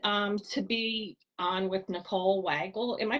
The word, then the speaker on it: Weigle: So I'm so excited to be on with Nicole Weigle. Am I pronouncing that right? It's Weigle, but it's Weigle, okay.